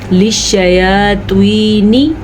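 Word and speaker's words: للشياطين: اور للشیاطین بھی نہیں پڑھنا، نون کو لمبا نہیں کرنا اور تو کو باریک نہیں پڑھنا. للشیاطین نی ایسے پڑھنا، ٹھیک ہے.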